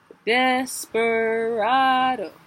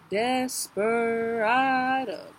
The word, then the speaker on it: desperado: it's a manometer so desperado desperado accented unaccented accented unaccented there's a music